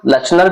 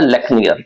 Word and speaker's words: Lechner: तो लेचनर, लेचनर भी बोल सकते हैं, लेकिन जो ओरिजिनल है वो है लेक्नियर, ठीक है।